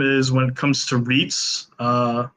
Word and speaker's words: REITs: when it comes to REITs uh I know that they rhyme with Feats and I am banging